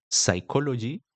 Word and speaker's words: psychology: Por ejemplo, la P al inicio de algunas palabras en el inglés es muda, como enumonia, psychology y heterodáctil.